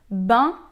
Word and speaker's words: ben: Donc en réalité, ben, c'est bien ou est bien mal prononcé.